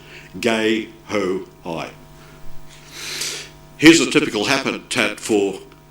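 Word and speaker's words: guehoi: hoi who's French Marian so it's a French uh name and the pronunciation is gay ho high here's a typical habitat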